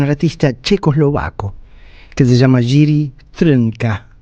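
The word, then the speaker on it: Jiří Trnka: checoslovaco que se llama Jiri Trunka, este así casi impronunciable porque no tiene, salvo la a del final, no tiene ninguna vocal en el medio. Jiri Trunka, nacido en 1912 y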